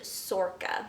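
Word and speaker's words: Sorcha: And all I know about this story is that it's about a young girl named Sorka. I believe is how you pronounce her name.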